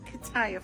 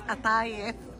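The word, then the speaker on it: قطايف: It's not kataif, honey. It's atayif.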